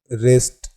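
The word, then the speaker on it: wrist: कुछ और वर्ड्स की बात करें तो जैसे राइट, रॉन्ग, रिस्ट, रैप, इस प्रकार के ये जो वर्ड्स हैं इसमें W साइलेंट है।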